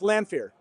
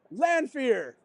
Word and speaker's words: Lanfear: But I used fan premiere because it rhymes with Lanfear.